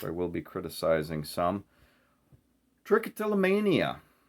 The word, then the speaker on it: trichotillomania: will be criticizing some trichotillomania mayo wants me to stress the may in trichotillomania for pronunciation also called hair pulling